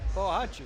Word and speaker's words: Bohachuk: Pronunciation on the sheet. So, Harry? Bahachuk. Bahachuk. Sergei Bahachuk. That's right. Bohachuk.